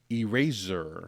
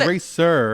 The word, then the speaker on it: Erasure: Erasure Erasure. by Erasure. You It was know not what Eraser.